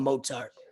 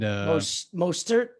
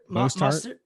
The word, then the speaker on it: Mostert: I call him Mozart just because. Mozart. Isn't it Mostert? Mostert? Yeah. Mostert. Yeah.